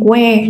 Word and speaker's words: where: And where, that means H is a silent letter.